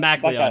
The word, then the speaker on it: MacLeod: MacLeod is actually how you pronounce it.